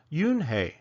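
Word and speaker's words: Unhei: u n he I it's pronounced Yun oh it's you hey the boy said like you hey what about hey you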